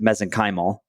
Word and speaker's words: mesenchymal: I pronounce it mezenyal. That's what that's what I've always says. That might that might be wrong. You're correct.